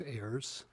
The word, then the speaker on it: Ayers: Please state the correct pronunciation of your name and then proceed with your testimony. My name is Ayers, and I'm representing Dodge County Concerned Citizens, and I speak in favor of this bill.